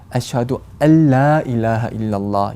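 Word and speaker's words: أشهد أن لا إله إلا الله: 또 두 번째 문장에 또 들어가면 아슈하두 알라 일라하 일랄라 이렇게 알라 이렇게 길게 발음하는 경우가 많이 눈에 띄는데, 정확한 발음은 아슈하두 알라 일라하 일랄라 이렇게 발음하는 것입니다.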